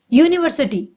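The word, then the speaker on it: university: सामने आर्टिकल नहीं आया यूनिवर्सिटी यू य उच्चारण देखिए इसका कंसोनेंट साउंड आ रहा है इसलिए यहां पर ए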